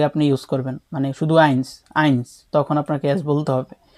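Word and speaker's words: eins: কিন্তু আইন যখন আপনি সিঙ্গেল অনলি আইনস বলবেন, তখন আপনাকে এস উচ্চারণ করতে হবে।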